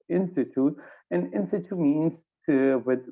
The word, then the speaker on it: in situ: It's pronounced in situ, and in situ means with whatever reactant that